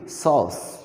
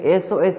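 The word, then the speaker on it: SOS: এখানে এই যে হ্যাভিং সস বলতে এখানে কি একটি মিডিয়াকে, একটি মাধ্যমকে বোঝাচ্ছে। কাজেই এখানে এটা কিন্তু এস ও এস পড়া হয় না, সস পড়া হয়।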